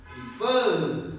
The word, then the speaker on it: prefer: This one we double because we pronounce prefer. Okay, prefer. So fur is stronger than pre.